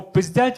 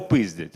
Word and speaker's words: пиздять: часу витрачати слово назива Ну там від наголосу залежить в принципі слово одне або пиздять або пиздять розумієте і кажуть нові